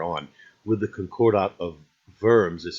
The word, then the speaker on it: Worms: with the Concordat of worms is how you pronounce it the in German W sound like a V for us and the I that